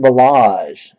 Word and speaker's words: Ballage: And our hit is a jersey autograph of Kalen Ballage. Yes, that is how you pronounce his last name.